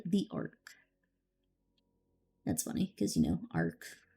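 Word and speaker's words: ARC: That's funny, because, Ark. It's Ark from the Bible, but spelled with a C instead of a K.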